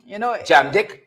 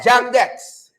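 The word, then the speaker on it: JAM-DEX: Jam Dick? What? Sorry? Dex. Oh, Dex, sorry. See, pronunciation. You see, when Queen's like, you like to say it properly. Right? Yeah, Jam Dex.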